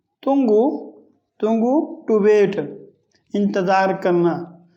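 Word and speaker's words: tunggu: Another you, یو از pronounced like the double O in fool۔ تنگو، تنگو، تنگو، to wait, انتظار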